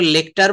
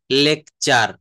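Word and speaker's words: lecture: লেকচার আমরা কি কখনো লেকটার বলি? বলি না। এটা কি হবে? লেকচার লেকচার।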